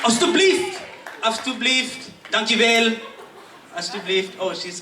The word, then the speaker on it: alsjeblieft: Alsjeblieft. Alsjeblieft.